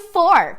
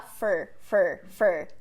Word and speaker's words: for: Beleza, vamos falar de for, que é a mesma pronúncia do number four também, só que na fala natural a gente pode também falar fur, com a mesma vogal de t.